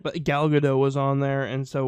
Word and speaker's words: Gal Gadot: It's Gal Gadot. She's Israeli. No hard T.